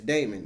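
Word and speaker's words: daimon: The original word is spelled D A I M O N which is Damon. It's Greek.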